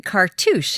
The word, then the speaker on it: cartouche: is this ancient Egyptian cartouche. Am I pronouncing that correctly? Perfect. That's because you're French, It's a French word, actually.